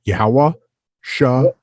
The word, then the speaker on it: Yahawahashai: And Yahawahashai is the way that we pronounce each character correctly with the Christ's name. Yahawahashai.